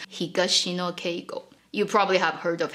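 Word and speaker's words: 東野圭吾: This drama is based on a Japanese novel written by the very famous Japanese crime detective story writer Dong Ye Guiwu. That's his name pronounced in Chinese, Higashino Keigo.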